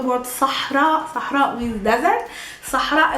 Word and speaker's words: Sahara: Sahara is pronounced by a guttural sa, not a sa. We're not saying Saha, Sahara. We're saying sa, sa, and then a ha, sah. Push air out of your mouth.